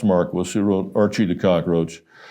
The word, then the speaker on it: Marquis: Now this is Don Marquis thing pronounced Marquis who wrote Archie the cockroach.